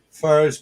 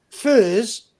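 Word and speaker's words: Furze: How do you pronounce the road? The name of the road that you live on, Sue. Furs Park. F U R Z E. Furs.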